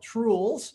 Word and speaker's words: Trules: All right, so as Eric said, my product is called Trules. So it rhymes with rules, but it really doesn't have anything to do with rules.